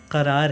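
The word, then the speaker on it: क़रार: हैं मेरे दिले बेकरार अब करार जो है ना वो करार नहीं है वो करार है उसमें नुक्ता है ठीक है वो उर्दू का शब्द तो आप उसको वैसे ही प्रोनाउंस करिए मेरे दिले बेकरार तू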